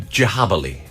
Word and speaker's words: Djabali: So it's Djabali. So it's spelled Djabali.